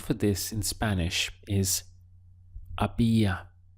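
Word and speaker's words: había: this in Spanish is a BIA notice that the H is silent so your pronunciation starts from here a BIA how would you say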